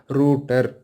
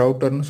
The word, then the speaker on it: router: அப்போனா இது ரூட்டர் அப்படி தான் நம்ம ப்ரொனவுன்ஸ் பண்ணணும். சரிங்களா. சரி, நிறைய பேர் ரவுட்டர்னு சொல்லுவாங்க. ஸோ ப்ரொனவுன்சியேஷன்லாம் பிரச்சனை இல்லை. பட் ஆனால் சரியாக நாம் உச்சரித்தோம் அப்படின்னா அதுக்கான அர்த்தம் சரியாக புரியும்.